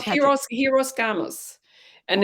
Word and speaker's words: hieros gamos: in Yeah, Greek we no, would pronounce it hieros gamos.